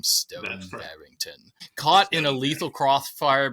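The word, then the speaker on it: Stone Barrington: But in this story, we find Stone Barington, which is how I pronounce his name, Stone Barington, caught in a lethal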